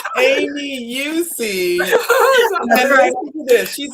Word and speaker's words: Eucce: Well, without further ado, can you pronounce her last name so I don't mess it up? Eucce. Eucce?